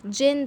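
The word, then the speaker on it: Djinn: करें व निकले व जैन बोस आठ है स्विट्जरलैंड और जीवन जो क्लेवर चतुर चलना आंख जिन था ठीक है यह दी है ना यह साइलेंट होगा इसको बोलेंगे इसको सिर्फ जिन बोलेंगे उसकी जो विद टैबलेट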